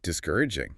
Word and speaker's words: discouraging: H restment discouraging stress on the core. Discour aging.